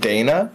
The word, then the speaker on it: Dina: her name is pronounced Dana.